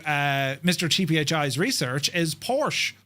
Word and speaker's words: Porsche: And in German, the E at the end is pronounced making it two syllables.